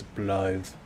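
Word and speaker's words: Blaidd: Is that how you pronounce Blythe? Yes. It's with a TH sound. Thought it was like Blade. Nope. It's Blythe.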